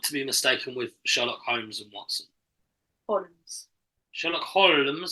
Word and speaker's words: Holmes: But it's a silent. Yeah, it's a silent L. So it's not Holmes. It's Holmes. It's a silent L, isn't it?